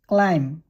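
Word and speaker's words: climb: তার মানে be silent থাকে প্রথম শব্দটি কেনেকে উচ্চারণ করিবা ক্লাইম ক্লাইম থাম থাম কম কম ডাম ডাম ডাম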